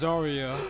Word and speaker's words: Zarya: some unfortunate news uh Jaden was wrong it's zarya I'm not saying I